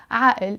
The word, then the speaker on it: عقل: But in Lebanese Arabic, we pronounce it عقل because we always pronounce this قاف as a sound.